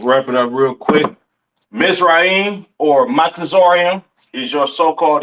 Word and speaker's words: Mizraim: Uh, Mizraim, all right, aka your Egyptians, all right, pronounce Matazarium in the Hebrew, Matazarium in the Hebrew, all right.